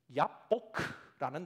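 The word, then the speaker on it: יבק: 그리고 야복강이라는 단어가 야보크라는 단어예요.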